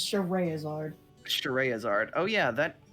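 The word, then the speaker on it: Scherazard: sense by the way it looks like it should be pronounced scheherazade it's not it's cheray izard shtaraya's art oh yeah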